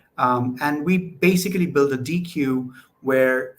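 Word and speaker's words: deque: I pronounce it DQ because that makes sense to me, double-ended Q. But a lot of people I know pronounce it like deck.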